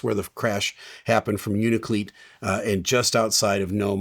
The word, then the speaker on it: Unalakleet: Michael, then a quick jaunt up to Unalakleet, as they pronounce it up there, and then back to Nome to finish the route for the day.